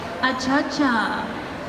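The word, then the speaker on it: açaí: said you have to think of the cha-cha dance and put an A in front of it she said it really helps if you actually do wiggle your hips at the same time so you have to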